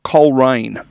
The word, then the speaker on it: Coleraine: First question that we must ask you, Lisa, as a local, Coleraine or Coleraine? Hello, 2 syllables only.